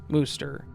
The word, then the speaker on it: Worcester: Apparently it's Worcester, Massachusetts here too, although even with the CH spelling in my old reality, it was still pronounced Worcester.